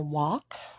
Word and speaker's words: walk: So again, these words are walk with the L being silent, could with the L being silent as well, and buy with the U being silent.